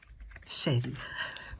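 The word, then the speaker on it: Chérie: Шерри. Так вроде бы правильно читается.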